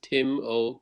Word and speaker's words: Timo: know your name is Tim O code it's Tim okay yeah it's fine Timo is my real name you could spell it like team zero okay I wouldn't say